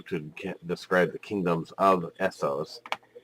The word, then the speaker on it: Essos: believe if I'm reading this correctly it is Essos that is correct you're doing well please continue there's another page okay now we don't have guessed the other map for you to describe the kingdoms of Essos like we do Westeros so we're going to